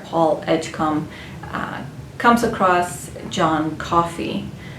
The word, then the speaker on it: Coffey: And the story takes place in the 1930s, where the main character, Paul Edgecombe, comes across John Coffey. Coffee like the drink, only not spelled the same.